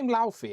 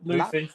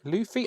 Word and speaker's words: Luffy: Is that what's he is Lai? Am I saying that right? Uh, Luffy. Luffy. Oh, damn. I was close.